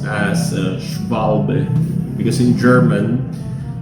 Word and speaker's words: Schwalbe: So this is uh pronounced asval because in German W is uh pronounced as vic or v like the victory.